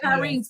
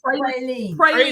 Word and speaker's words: praline: No, I'm gonna say it like they said. We gotta go get some pyrines. Yeah. You ever heard them say pyrines? Yes, pyrines. So they say pyrene candy, which is really praline candy.